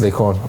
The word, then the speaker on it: Laycon: It's Laycon. Okay, cool. That's Laycon, Laycon, not CORN or anything. It's not. Yeah, corn. it's not corn. It's Laycon. And then some people pronounce it as Laycon.